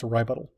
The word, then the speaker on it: RyButtal: A RyButtal is like a rebuttal, except it's spelled and pronounced RyButtal, because that's the kind of shenanigans I get up to on a daily basis.